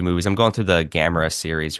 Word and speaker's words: Gamera: Or when they pronounce Gamera, I'm like, no. Gamera, yeah.